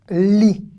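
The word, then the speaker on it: לי: Li. Le yud ici. Ne se prononce pas, mais il peut pas.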